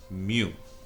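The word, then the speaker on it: μ: symbol your favorite Pokemon it's called Moo okay that's how you pronounce a simple commune and this is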